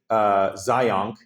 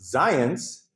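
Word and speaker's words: Zajonc: And then they'll be like, oh, yes, it's not Zionk. It's pronounced Zions. It rhymes with science.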